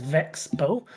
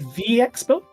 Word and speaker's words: VeXpo: This is an amusing one because initially there is no correct way. Uh I started saying Vexbow as Vexbow but as more people came into the organization and more people learned about uh Vexbow. There were different pronunciations I've heard. For example, I've heard Vxbow Vexo. Uh and recently I've been hearing Vixbo. Vix. Where's the eye? I I don't know. Yeah, I've heard Vixbo.